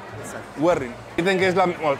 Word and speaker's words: Güerrín: Werin porque tiene el doble acento en la U. Es como con acento en la U. Exacto. Werin.